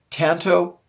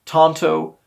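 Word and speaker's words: tantō: Tanto in the past I've said it both ways so there's really yeah it's both pronunciations are prevalent all right James ree comment said Tonto just like the Lone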